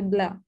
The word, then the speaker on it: Blais: I don't know if it's French. Without the S. With Alexandre Blais.